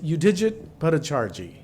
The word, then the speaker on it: Yudhijit Bhattacharjee: would apply to everyone back here could you pronounce your name again so you say it correctly yeah it's you digit Bhattacharjee I can say it a few more times